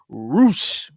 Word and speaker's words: Rush: World Championship uh match between roou even though it's spelled Rush versus John Moxley what